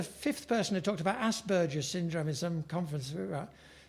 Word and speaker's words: Asperger: I remember after the fifth person who talked about Asperger's syndrome in some conference, she said, Asperger, it rhymes with hamburger, she would say.